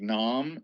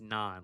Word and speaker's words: Non: I don't know how it's spelled, but I think it starts with an N and ends with an N. I think it's Non. Like garlic naan.